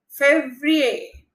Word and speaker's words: février: Janvier, février, février. Since this E has an accent IQ, so it is A. Février.